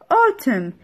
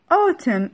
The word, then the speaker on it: autumn: In is silent and a تلفظ O. In autumn. In autumn.